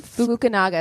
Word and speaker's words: Fukunaga: Fukunaga is what it looks like. Fukunaga.